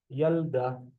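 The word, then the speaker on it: ילדה: Slowly but surely, yud with a kamatz, making it a ya. We have the lamed with the two dots, meaning no vowel. Yal. Dalet with a kamatz, the hey carrying the sound, meaning yalda. Yalda.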